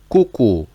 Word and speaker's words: kuku: So we read that straight away, cuckoo. So if you see only 2 alphabets, so we have to spell it. But if you see more than 2 alphabets, we have to read it straight away with no space.